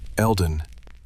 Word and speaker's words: Elden: Elden, not Mr. not the biologist. My first name, pronounced exactly the way my mother says it with a slight emphasis on the first syllable.